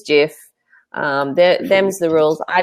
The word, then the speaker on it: GIF: there's a gif a gif sorry I'm saying it wrong and it is Jeff um them's the rules